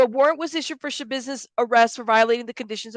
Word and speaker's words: Schabusiness: heard about it yeah it's it's a business that's how you say her name unless you guys say different but that's how it's I've heard it pronounced I could be wrong